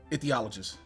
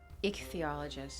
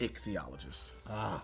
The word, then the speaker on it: ichthyologist: trying to remember this one doctor dr doctor pronounce this professional title i-c-h-t-y-o-l-o-g-i-s-t t-h-y t-h-y excuse me ethiologist say that one some more ethiologist ichthyologist ichthyologist sorry so close all right right there an